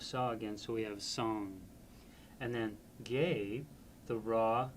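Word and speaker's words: སངས: So song, the first syllable of the word Buddha, is represented by S-A-N-G-S. So it's not sayings, which is what it looks like.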